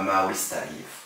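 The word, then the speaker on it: Maurice Tardif: Y gracias a la recomendación de la doctora Elizabeth Hasso, de un investigador canadiense que se llama Maurice Tarif, se pronuncia en francés.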